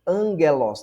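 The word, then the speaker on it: ἄγγελος: Exemplo, angelos, tá vendo? Esse gama aqui se lê como se fosse um N.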